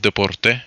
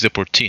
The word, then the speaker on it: deportee: And I wanna also fix the pronunciation of deporte. It's deportee. Schedule deportee. My bad.